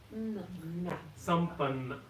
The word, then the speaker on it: Sampanna: you the last time, whenever there are two consonants following each other, you pronounce them twice. So where is it? Sampanna in the first word, the very last part. So N-N-A. So N-A is na, N-N-A is na.